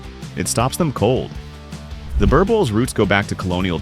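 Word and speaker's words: Boerboel: Pronounced Boer Bull, this dog was bred not to look intimidating, but to be intimidating.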